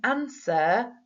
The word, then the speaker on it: answer: Well, bear in mind that in answer, we can't hear that W.